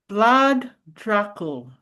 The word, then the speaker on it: Vlad Dracul: And can you pronounce his name for us, Lisa? Vlad Dracul.